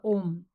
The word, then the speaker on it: OM: and this is the OM and the OM only because these three letters a u m pronounced in combination as om May well be the